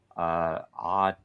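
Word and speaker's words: AU10TIX: It's pronounced Authentic is an Israeli company that was doing all of the biometric KYC and everything else on X.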